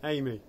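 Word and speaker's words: Aimee: Amy. Amy. Amy. All right. And it's, he's going? A-I-M-E-E. It's spelled A-I-M-E-E.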